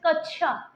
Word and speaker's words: क्ष: से अक्ष बनता है क्योंकि जब हम उच्चारण करते हैं तब हम इसको अक्षय नहीं कहते तब हम इसको छ बोलते हैं जैसे कक्ष ठीक है कक्ष ठीक है